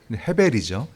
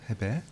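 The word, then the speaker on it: הבל: 그래서 헛되다라는 이 말에 해당하는 원문 히브리어 발음을 기억하시리라 믿어요. 헤벨이죠. 헤벨.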